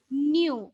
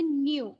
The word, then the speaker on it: nu: can be represented by nu. It is not V, it is a Greek symbol, and we can pronounce it nu. N-E-W, nu.